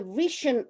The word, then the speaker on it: Vriesian: His extract from the Vriesian Witch, is that pronounced correctly, Geoff? Vriesian, yes. Close, close.